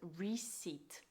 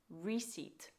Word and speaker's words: receipt: next word is receipt the p is silent in receipt it's pronounced receipt we do not pronounce the P receipt your turn and for